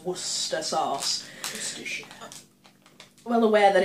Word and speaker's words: Worcester: Worcester sauce yes Americans that is how you pronounce Worcester sauce well aware that it's spelt word sexter